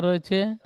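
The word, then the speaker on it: ر: ভাষায় মুখ গোল করে তাহলে রা বলবেন না রে বলবেন না র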